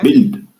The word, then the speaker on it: build: Donc, on dit que même le son I aussi, tu vas avoir un mot avec U, I, mais ça se prononce I. Donc, il faut savoir, on ne lit pas ce qu'on voit, mais ce que la règle nous dit.